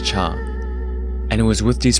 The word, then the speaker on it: 茶: Later on, as Chinese continued to split into multiple different languages, the pronunciation of the word for tea in many of those languages became something similar to cha.